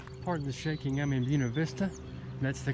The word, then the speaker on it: Buena Vista: Hey guys, pardon the shaking, I'm in Buena Vista. That's the correct pronunciation.